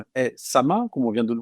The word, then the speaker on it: SAMHA: Donc c'est vrai, le SAMA, qui s'écrit S-A-M-H-A en acronyme, parce qu'on a tendance à se tromper.